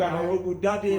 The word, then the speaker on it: Arogundade: Yes, thank you so much for Say it again, it's Arogundade. Arogundade. Pronounce it well, say it one more.